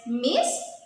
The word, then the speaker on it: Miss: I discussed earlier, M-I-S-S, Miss, which refers to unmarried women, and Ms, which refers to both married and unmarried women. Well, in the first one, we pronounce the S as Miss. In the second, it is Miss.